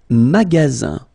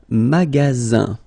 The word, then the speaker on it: magasin: Le magasin, le magasin, okay, remember you've got only one S between two vowels, then you get the sound Z, alright, and then the